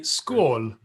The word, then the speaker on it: skål: I live in Sweden, and in Sweden you say skål.